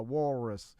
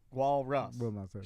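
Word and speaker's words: walrus: w wall wallus wallus say wall wall and then say Russ yes wall Russ I knew it I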